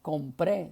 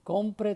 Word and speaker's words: compre: bueno pero en realidad le había faltado el acento en la e o mejor dicho le había sobrado el acento en la e en realidad no era compré sino compre tal cosa para la iglesia me explico un acento hace la diferencia especialmente en español acostúmbrate